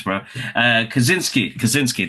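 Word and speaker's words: Kosinski: Kazinski. There you go. That's I said it right.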